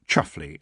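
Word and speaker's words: Chumsfanleigh: Roland the Chums family pronounced chuffly under that strange rule that the more gentrified a family is, the more peculiar the pronunciation of their name becomes.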